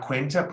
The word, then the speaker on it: cuenta: The bill, la cuenta, put a W above the UE.